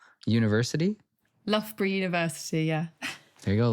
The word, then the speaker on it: Loughborough: I believe it's pronounced Loughborough University. Loughborough University, yeah.